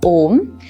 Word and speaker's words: om: the syllables right so it's made up of a o and m and all together forms om now there are again